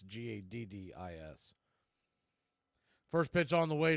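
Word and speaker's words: Gaddis: you're wondering hit his last name is not spelled like Evan gotus it's Gadis first pitch on the way to Kellick is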